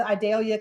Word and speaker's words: Idalia: Julie over in Tallahassee went really well with idalia coming through I know I know the news